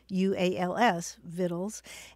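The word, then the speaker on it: victuals: Journey with recipes and it's spelled v-i-c-t-u-a-l-s vittles and it's a love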